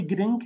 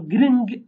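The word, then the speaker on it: giring: So Gring or Gring. Okay? So Gring, or you can pronounce the N nasal and then pronounce G as well. All three ways are possible.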